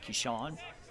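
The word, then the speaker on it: Keshuwn: The pitcher for Mississippi is K E S H U W N but pronounced Kishan.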